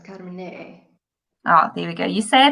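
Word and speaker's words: Carmenère: Without the last E, I suppose, Carmenere.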